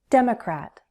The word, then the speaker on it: Democrat: Democrat, Democrat, Democrat. Stress on the first syllable.